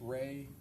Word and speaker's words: Rey: There's also a visual spatial ability test and I'm going to have you explain or pronounce that for us. The REY test, Ray, the Ray Astrich complex figure test.